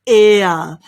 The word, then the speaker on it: heir: well done the thistle thistle amazing well done the next we have is air the heir to the throne okay so it's